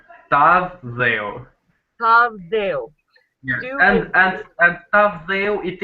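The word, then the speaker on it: Tavë dheu: How do you pronounce it? Tavdeo. Tavdeo.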